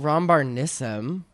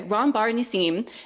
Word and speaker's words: Ron Bar Nissim: Ron Bar Nissim and Tiffany Hey, not Ron Barn Nissim. I have instructed my lawyers, which let me double check that I'm pronouncing their names right Nissim. Okay. Ron Bar Nissim and Tiffany Ha to